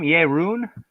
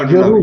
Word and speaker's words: Jeroen: and now that I have you, how do you say your name? Jeroen? no, Jeroen. Jeroen. Jeroen. That's a hard R.